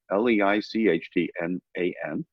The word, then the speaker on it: Leichtman: Robert Leichtman, Leichtman. So it's spelled as if it was Lichtmann, because that was the German pronunciation, but his pronunciation is Leichtman, as in light man.